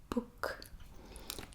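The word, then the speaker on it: boek: english stool chair book book so very similar to english book but it's book it's just a slightly different pronunciation of the e um and that means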